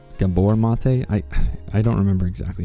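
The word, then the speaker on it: Gabor Maté: Um, I think his name is pronounced Gabbor, Gabbor Mate.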